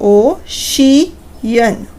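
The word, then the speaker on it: ocean: अगर सी आई ए या ई ए इन दोनों कॉम्बिनेशन के साथ आ रहा है तो उसकी साउंड श में ही प्रोनाउंस होगी।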